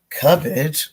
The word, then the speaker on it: Cubbage: Speaking of the last name, Cubbage, which we should also point out is spelled C-U-B-B.